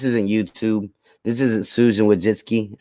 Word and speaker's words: Wojcicki: tell you this isn't youtube this isn't susan wojcicki said it right that time this is this